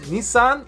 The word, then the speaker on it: Nissan: drifting culture and it is Nissan in Japanese Nissan is his son me of Nissan stands for